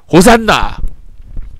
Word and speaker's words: 호산나: 호시아나 호시아나 이제 구원하소서 이게 이제 라틴어로 오사카 헬라어로 호산나 이렇게 발음이 되었던 것입니다 그래서 우리나라 말로 호산나로 된 것입니다 이제 구원하셨습니다 여러분